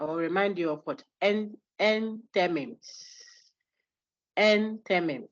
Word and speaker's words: enthymeme: Enthymemes. Enthymemes. Spelled what? How do you spell Enthymemes? Enthyme. Enthymeme. You should have said endymeme, but that's not how it's pronounced. It's pronounced enthymeme.